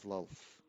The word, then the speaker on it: Lolth: Oh, so you are followers of Loaf then? We were followers of Lolth, is the correct way to pronounce it.